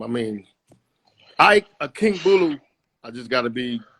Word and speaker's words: Akingbulu: it's it's really exactly how it's spelled, pretty much. So it's Akingbulu. I want to So be a. like a lowercase a and then Akingbulu.